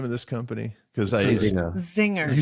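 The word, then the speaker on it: Czinger: pronounce the name of this company CU I Zinger you say the C I just say Zing see Zinger just so it's clear that everyone knows what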